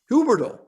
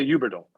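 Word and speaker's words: Huberdeau: all up so it's huberdo how's that in french like only richard the h is silent yes so well i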